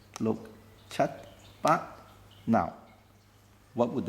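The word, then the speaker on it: 六: six is look again I cross out the K so that you know you do not pronounce that look is just look seven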